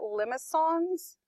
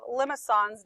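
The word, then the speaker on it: limaçon: But you pronounce it limicon. I don't know. The fancy C does that. Makes that S sound.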